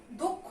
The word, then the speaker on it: দক্ষ: তাহলে এটা কি উচ্চারণ হবে আমাদের? দক্ষ নাকি দক্ষ? দক্ষ উচ্চারণ হবে, কারণ আমাদের শেষে যুক্তক্ষ আছে।